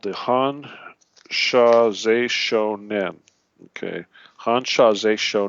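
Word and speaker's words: Hon Sha Ze Sho Nen: All right, that's spelled, first word, H-O-N, Han, Sha, S-H-A, Ze, Z-E, Z, if you will, Shou, S-H-O, and Nen, N-E-N.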